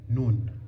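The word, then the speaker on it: نون: And this is the noon sound.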